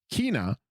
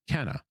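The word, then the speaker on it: Kena: this we're currently playing Kina which I've just learned is not pronounced Kenna after the first time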